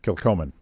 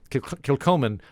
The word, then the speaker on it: Kilchoman: Kilchoman. Kilchoman.